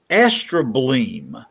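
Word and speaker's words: astrobleme: for truth can you see this word it's pronounced astra bleem astro bling this is a geologic word for an ancient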